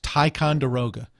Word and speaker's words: Ticonderoga: It's Ticonderoga.